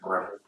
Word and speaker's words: Breville: Came with a whisk attachment, which, by the way, Breville, that's how you say it, Breville.